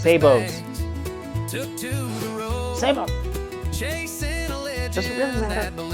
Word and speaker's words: sabot: a video has been floating around showing 3D printed savos savos? sabits? (unable to pronounce s***) SABOTS!